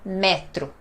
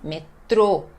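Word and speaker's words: metrô: Prenons le métro a un accent circonflexe à l'O, alors, n'est pas MEtro, et oui mètre, mètre.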